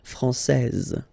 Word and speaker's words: française: Okay, so français here, you get this final S that you don't pronounce, so français, and then when you put this final E here, you will get française.